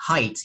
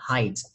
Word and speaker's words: height: Cái này đọc là height, không có đọc là height nha mọi người ha. Cái này đọc là height.